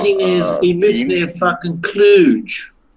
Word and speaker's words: Cluj: He says he lives near fucking Cluj, right? It rhymes with fucking splooge.